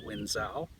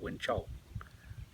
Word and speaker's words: Wenzhou: Just little simple things like understanding that the ZH, words starting with ZH or having a ZH in them, the ZH is pronounced a J or a Ch sound, not a Z sound.